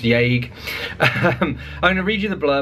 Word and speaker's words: Yage: But because Burroughs didn't put an accent over the E in Yage, it's pronounced Yage.